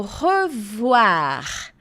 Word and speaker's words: revoir: o revoir revoir revoir outra dica de pronúncia ó com i sempre vai ter o som de u e não o som de Oi vai ser ua o revoir a gente já viu